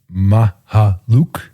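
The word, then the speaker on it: Mykhailiuk: So there's a real pronunciation, Mahaluk, and Malaki.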